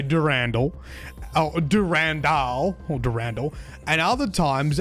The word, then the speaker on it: Durandal: Anyway, got some not nice feedback about how I said Durand in the last video, and this ended up being a massive rabbit hole that I spent like over an hour talking about on stream. Actually, Bungie themselves pronounce it Durandal in their Marathon Forge tutorial